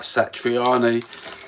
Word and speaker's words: Satriani: Satriani and Dave Lee Roth.